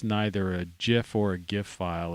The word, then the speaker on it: GIF: would say the the the proper word would be gif because you wouldn't you know it's a it's a hard g the only way a